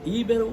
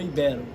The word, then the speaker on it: ibero: Qual é a palavra correta? Íbero ou ibero? Ibero.